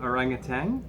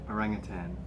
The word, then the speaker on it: orangutan: Have you grown up saying orangutan, or have you pronounced it correctly, orangutan?